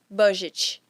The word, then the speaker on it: budget: Budget, que é orçamento, né? A pronúncia seria budget. Budget.